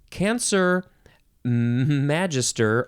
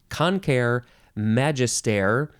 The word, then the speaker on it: Cancer magister: this species name is cancer Magister although that's maybe the American way to say it the Latin way could be concur Magister I'm not sure how they want to actually pronounce it but uh but